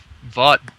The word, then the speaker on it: Vogt: Although I think Vaught, or how do you pronounce his name? Stephen Vogt? It's like vote. Like, I'm voting.